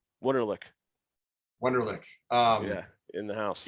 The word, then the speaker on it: Wunderlich: Wunderlich. Yeah, in the house. Yeah, it's German, so most people don't.